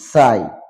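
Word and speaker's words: sigh: word H silent word এ সমস্ত শব্দগুলোতে জি H letters will be silent in the time of pronunciation যেমন দেখতে পাচ্ছি সাই মানে দীর্ঘশ্বাস সাই তারপরে থাই মানে উরু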